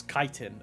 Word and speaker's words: chitin: I'm not gonna lie, I thought it was always pronounced chitin, but it's chitin.